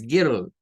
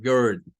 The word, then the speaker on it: girl: la l entonces ahí la i y la r suena No es girl es girl también para decir un